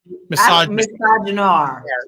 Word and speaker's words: misogynoir: How do you pronounce it? Misogynoir.